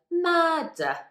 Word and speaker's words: murder: at this first word murder so after that first r letter the next sound is d which is a consonant so we don't pronounce that first r then in the second